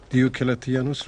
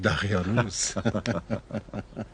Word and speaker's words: دیوکلتیانوس: هنوز نمیتواند درست تلفظ کند. دیوکلتیانوس را میگوید دقیانوس.